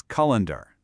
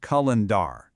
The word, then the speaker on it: calendar: calls it a calendar, putting all this heavy emphasis on the end. But the actual pronunciation is much softer. That ending just sounds like so it's calendar, not Cullandar.